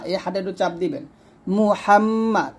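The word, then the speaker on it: محمد: জবর মা মুহাম্মা মুহামমা আমরা এখানে অনেকেই মহাম বলি মিম পেশ মুনা বলে ম বলি তো এটা উচ্চারণটা ভুল করবেন না মিম পেশ মু বলবেন মুহাম হাটু চাপ দিবেন মুহাম্মাদ এ দাল র ধরবে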